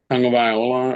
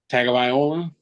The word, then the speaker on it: Tagovailoa: Tagovailoa or Tagovailoa. I'm never gonna say it like that, but Tagovailoa.